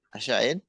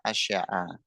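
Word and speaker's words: شيءٍ: Sama niatu bacanya apa? Asya'in. Tadi ukhti Bibi kalau nggak salah asya'a.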